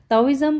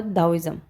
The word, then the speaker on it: Taoism: ताओइज़म और दाओइज़म। ताओइज़म also known as दाओइज़म, इसको दोनों उसमें प्रोनाउंस करते हैं, दाओइज़म भी और ताओइज़म भी।